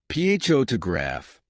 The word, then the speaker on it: photograph: For instance, in the word photograph, the stress is on the first syllable, photograph. But in photographer, the stress moves to the second syllable, photographer.